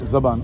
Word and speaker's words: ज़ुबान: इसका सही प्रोनाउंसिएशन ज़ुबान है या ज़बान है? ज़बान। और ज़ुबान? ज़ुबान भी कहते हैं।